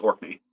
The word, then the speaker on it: Orkney: It's pronounced Orkney.